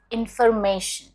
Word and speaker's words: information: remaining formation as information but that is incorrect it's information information not information information and you stress on the me information pizza it's pizza